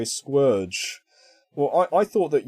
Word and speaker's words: Scourge: in the movie yeah unicron says squerge so all i can assume is he's he's actually called squerge we've been calling him scourge wrongly for years yep we've all been saying it wrong oh yeah i was